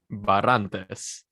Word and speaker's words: Barrantes: You got to really let it like fly. Barrantes. My Hispanics who's watching these, like they know. There's like a flurry to it.